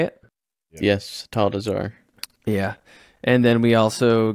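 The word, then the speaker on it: Atal'Dazar: desar is that how you say it yes tall desar yeah and then we also got you got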